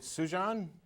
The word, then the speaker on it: Sujan: Is it Sujan? Yes. In New York? Sujan. What is it again? Yes, this is Sujan. You pronounced it absolutely right.